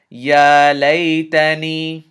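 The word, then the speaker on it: يا ليتني: Nun kasra ya sukoon ni ya laytani. One more time, I'll just pronounce it out for you.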